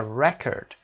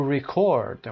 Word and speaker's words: record: The nouns are usually stressed on the first syllable, for example, an export, a record, and the verbs on the second syllable, for example, to export, to record.